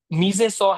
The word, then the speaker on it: mise en scène: Are you asking about, see, the term which is quite famously used is called mise en scène. It's a French term.